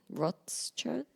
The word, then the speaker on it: Rothschild: Rothschild? Oh, the Rothschilds. Rothschild.